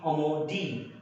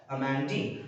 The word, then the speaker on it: Amandine: Amandine. If you have to say it according to the French pronunciation, it should be Amandine. But for your better understanding, you can also call her as Amandine.